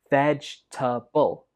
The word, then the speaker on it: vegetable: So this word has 3 syllables. Vegetable. Vegetable. Some students pronounce this with 4 syllables, but that's not correct. It only has 3.